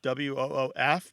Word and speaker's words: woof: Sometimes it's spelled woof, W-O-O-F, because it's one of these terms that's primarily transmitted orally. And so the L kind of disappears. It sounds like woof instead of wolf.